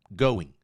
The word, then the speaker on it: going: Você ameaça falar o G, mas não fala going.